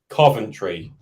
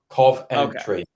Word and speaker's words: Coventry: is it Coventry or is it Coventry Coventry cough entry so anyway if you're